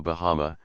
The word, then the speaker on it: Bahama: Bahama una de las Islas Lucayas, que hoy se llama Bahama, sin acento en la final.